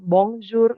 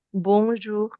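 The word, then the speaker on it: bonjour: dia Enggak dia enggak kita bilang bongjur enggak tapi bonjur gitu jadi kayak ada bonjur sebenarnya cara bacanya Jadi tapi sering kali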